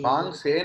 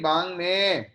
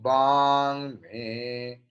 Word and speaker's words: वाङ्मे: Bang se nahi, bang me. Om bang me manasip.